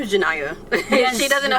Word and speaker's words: Janaiya: My name is Janaiya. Yes. She doesn't know how to pronounce it.